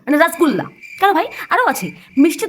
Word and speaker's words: রসগোল্লা: অন্নপ্রাসন থেকে শ্রাদ্ধারি ফেমাস রসগোল্লা। হুম। এরা রসগোল্লাটাকে কি বানিয়েছে? রসগোল্লা। মানে রসগোল্লার রসকশ বাদ দিয়ে রাস। আর গোল্লার গো বাদ দিয়ে সেখানে বসেছে গু। মানে রসগোল্লা।